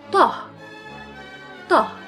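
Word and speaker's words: ط: Now, tah. So tah is a heavy T. Again, it's tah, and we pronounce it tuh.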